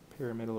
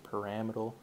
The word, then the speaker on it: pyramidal: do this right here pyramidal or paramal don't know how whatever you prefer for pronunciation so this one looks